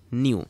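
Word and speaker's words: ν: তো এটার উচ্চারণটা হচ্ছে নিউ।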